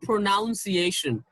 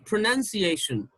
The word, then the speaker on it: pronunciation: let me tell you it's not pronunciation it's pronunciation let me repeat it pronunciation pronunciation that's not pronunciation okay it's pronunciation now look at this